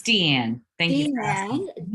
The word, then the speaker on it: Diane: Is it Deanne or Diane? It's Deanne.